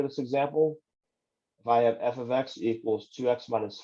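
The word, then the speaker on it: f(x): here and f with the parentheses afterwards it's pronounced like this f of x it does not mean multiplication so we're not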